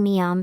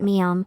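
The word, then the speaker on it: 미음: consonant as a result when Koreans pronounce the initial consonant mium Learners of Korean tend to hear the bilabial sound biop which has the same place and manner of articulation rather than the nasal consonant mium I will attach a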